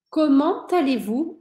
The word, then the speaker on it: Comment allez-vous: Comment allez-vous? Olha só, eu vou pronunciar esse T do comment porque a próxima palavra começa com vogal. Mesma coisa que a gente viu no vous appelez, né?